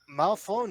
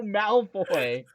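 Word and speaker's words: Malfoy: said it right Draco Malon where did that end come from it's Draco Maloy Maloy my bad said Draco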